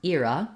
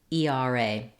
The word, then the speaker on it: era: two correct ways and era so the word era has uh two different pronunciations you can either use the diphthong air for the first stressed syllable or you can use the diphthong ear I typically say era